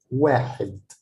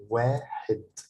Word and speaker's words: واحد: So you have to pronounce them like this, واحد. I wouldn't say واحد. No, it's واحد. Wa, because I have a long vowel, which is alif, wa, and then حد. It's a short vowel because it's not written